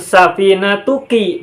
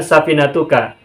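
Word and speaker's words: سفينتُكِ: Karena kalimat ini merupakan sambungan dari kalimat sebelumnya, dan pada kalimat sebelumnya konteksnya adalah perempuan, hal anti mudirotun, maka di sini pun safinatuki bukan safinatuka. Perahumu dan mu di situ adalah perempuan.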